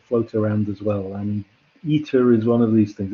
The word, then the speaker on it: eta: It looks a bit like an N, but it's pronounced eta.